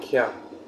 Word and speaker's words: Koepp: Yeah, it's David Koepp. That's pronounced.